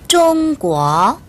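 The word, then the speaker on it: 中国: 될겁니다 네 그러면 중국이라는 나라 일반적으로는 좀 뭐라고 발음을 하거든요 요구하면 큰 소리로 달 읽어볼까요 여러분 좀 꾸어 다시 한 더 좀 꾸어 다시 한번 좀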